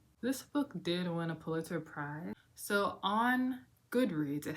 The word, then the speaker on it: Pulitzer: How do you say Perulitzer? Pulitzer.